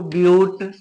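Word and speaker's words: but-: चार कार्बन है तो ब्यूट वैसे ब आप बट पढ़ लेंगे लेकिन ये अधूरा लिखा हुआ है इसके आगे भी कुछ लिखा रहेगा तो यहां पर यू का उच्चारण यू करके लिया जाएगा ब्यूट पांच कार्बन है पेंट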